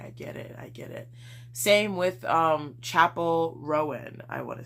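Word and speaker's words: Chappell Roan: Same with Chapel Rowan, I want to say. I've been saying her name as Chappelle Rowan for like months, and that's not how you say it, so oops.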